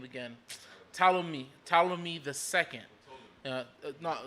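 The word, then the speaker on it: Ptolemy: old boy name again talami talami II no not P it's a Greek word you don't pronounce the P everyone does that you me talom me his name yeah you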